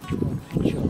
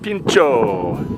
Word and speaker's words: Pinchot: Pinchot, I mispronounced it. Pinchot.